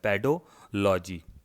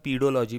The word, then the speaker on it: पेडोलॉजी: अध्ययन कराया जाता है, पेडोलॉजी। पेडो से आपको पता चल रहा है, हिंदी में पीडोलॉजी भी लिखा हुआ आता है, लेकिन इसका सही उच्चारण है पेडोलॉजी।